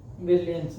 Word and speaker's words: Brilliance: नाम चेंज हुआ है ब्रिलियंस ना ब्रिलॉन्स। ब्रिलियंस हाँ ब्रिलॉन्स इसको प्रोनाउंस करते हैं फ्रेंच में।